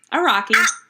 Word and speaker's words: Araki: Will you pronounce his last name correctly for me? Araki.